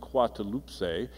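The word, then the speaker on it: Coatlaxopeuh: I can't pronounce it which is pronounced quoi two loops a and sounds remarkably like the Spanish word Guadalupe you've heard of Our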